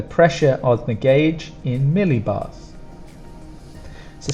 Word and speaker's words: millibar: quite easy to spell pronunciation would go stronger sound on the first two really together Millie millibar millibar phase angle phase angle